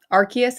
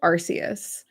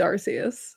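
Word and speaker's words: Arceus: Josie, if you want to feel better than everyone else, um, uh, Archus is pronounced Arus. Everyone gets it wrong and it's Arus.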